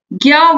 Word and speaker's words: ज्ञान: number पर क्या है ज्ञान का सही उच्चारण ज्ञान व झा व के मेल से बना है हिंदी में इनका उच्चारण